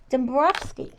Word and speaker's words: Dombrowski: And then I have this other wonderful lady who is sitting next to her, and that is Patricia Ann Dombrowski.